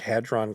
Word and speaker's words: Hadron: atoms yes LHC a collider yes it's uh pronounced Large Hadron Collider and I did a little bit of